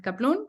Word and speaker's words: Kaplun: es el de kaplum que se escribe con dos n y dos t que todo el mundo se ríe y caplum como cataplum en la manera más fácil